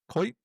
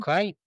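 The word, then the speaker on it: Kuyt: minutes and he's playing for uh Durk Kurt Kite. How do you say his name? Kite.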